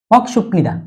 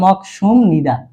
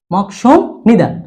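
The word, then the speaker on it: 먹습니다: বিউপের পরে নিউন আসলে বিউপটা মিউমের মতো উচ্চারিত হবে, তাহলে মক সুম নিদা, মক সুম নিদা।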